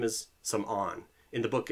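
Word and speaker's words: Samorn: and he's still alive um his name is Sam on in the book It's s a m o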